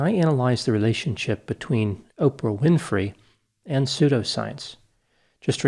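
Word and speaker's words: Orpah: starting with the background oprah winfrey was born in mississippi on january 29 1954 interestingly her name was actually spelled o-r-p-a-h but people mispronounced it and the name oprah is what caught on at age six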